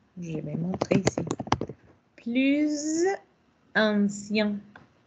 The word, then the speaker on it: plus ancien: Plus ancien. Notez que vous avez ici la liaison entre la Z, la S et la A, mais dans le son de Z. Plus ancien.